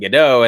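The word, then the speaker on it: Gadot: I've I've always started I've stopped pronouncing it with the T and and just went with gdau and then yeah there's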